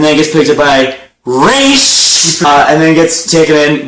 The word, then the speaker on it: Ra's: Terry, though father's name was pronounced Ra's, not Raz. A common mistake.